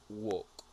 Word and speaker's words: walk: open and this one I think I heard walk with l sound and it is walk walk without L walk walk you get